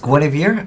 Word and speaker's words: Gwenhwyfar: right into it so I believe the name is pronounced GW ofir uh queen of noble